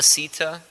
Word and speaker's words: Sita: named Sita so Rama Sita it rhymes with bhagavad-gita and Rama's know Sita's